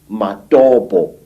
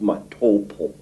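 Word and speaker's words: Matobo: place called the mountains of the round rocks matabo wrongly pronounced matopo in in Zimbabwe this Hills are really not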